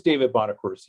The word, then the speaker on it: Bonaccorsi: Yes, my name is David Bonaccorsi. You did a good job pronouncing it.